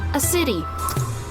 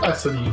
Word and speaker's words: Acidy: Like a city, a city. Ah, like acidic. Alright. There you go. AC. Can you spell that for me, please? It is ASSIDY. Acidy. You... Like acidic, but with a Y.